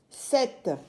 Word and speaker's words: sept: x s i x 7 qui s'écrit septe mais la lettre P est une lettre muette s e P t 7 8 h qui est